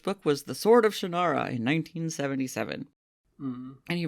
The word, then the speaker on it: Shannara: where I realized that it's Shannara, not Shannara, which is how I've always said it. How everyone has always Terry said it, Brooks. and how it's said in the Shannara. TV series. But he calls it... Literally no one has called it Shannara. Terry Brooks calls it Shannara, so that's what it is.